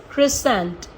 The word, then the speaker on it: crescent: तो एस के संग अगर सी आता है तो वो साइलेंट ही रहता है, और अगर के